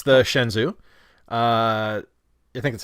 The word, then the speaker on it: Shenzhou: It's the Shenzhou.